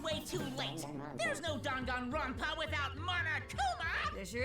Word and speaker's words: Danganronpa: that said it right he said it danganronpa he's the only one that said it right gundam of course the